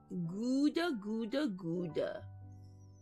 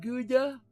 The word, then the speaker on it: Gouda: Gouda. Yes, I know it's not pronounced Gouda, but I'm gonna call it Gouda until the day I die.